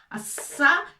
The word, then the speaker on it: الصياد: Avec فتحة الصا هنا أيضا شدة. لماذا؟ لأننا نشدد على حرف الياء. الصياد.